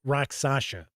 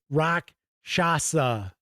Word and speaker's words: rakshasa: And I swear I always pronounce it as rakshasa. And it's not, it's rakshasa.